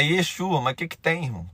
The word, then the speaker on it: Yeshua: Eu não sei se você sabe, mas Jesus não é o verdadeiro nome dele. É Yesua. E Yeshua. Se você for no hebraico, você vai até pronunciar diferente.